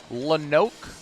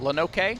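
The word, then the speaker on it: Lonoke: Sophomore right-hander Ees is out of uh I don't know how to pronounce this, Jason. Lenoke. L O N O K E. Sounds good. Lenoke sounds good.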